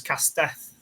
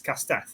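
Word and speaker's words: castell: me one which was casteth for Rook yes okay caster and it's it's spelled like Castel but it's cast death is that right yeah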